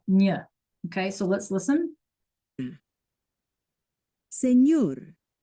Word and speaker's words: señor: mañana, But then when we add the squiggly, right, the tilde, that's when it becomes like a NY, like canyon. Nya, nya, nya. Okay, so let's listen. señor, baño, niña, Okay, so